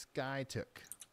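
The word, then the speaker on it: Skiatook: to one tornado warning it's pronounced Sky took my bad if you're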